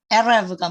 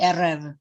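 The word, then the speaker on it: ערב: 예, 그리고 그다음에 이제 여기 래쉬를 얘기 드린 이유는 이건 영어의 R 발음에 해당돼요. R. 근데 조금 이제 히브리어식으로 하면 예, 에레브가 뭐냐면 저기 저녁이에요. 저녁이 에레브.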